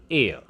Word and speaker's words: heir: An heir. Heir क्या होता है? उत्तराधिकारी जैसे हम कह सकते हैं. In this way, in all of the above words, initial H is always silent, and when we pronounce